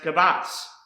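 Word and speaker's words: קָבַץ: The next word I want to show you is pronounced kabatz, and this means to gather, collect, assemble, and store.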